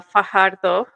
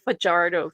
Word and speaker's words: Fardo: an interception right uh Fardo I'm saying I'm saying it right that's how it should be none of this vardo thing he also had several